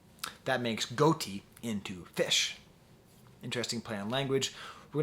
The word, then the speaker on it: ghoti: That's spelled Ghoti. It's an old joke about how English is pronounced strangely. So that GH is the F sound in enough. The O sound is the I sound in women. And the TI sound is the sh sound in nation.